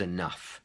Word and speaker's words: enough: had enough ice cream so the word is enough the pronunciation other words with this sound include um tough I have had a tough day it's been a tough day or rough could you give me a rough idea about how many people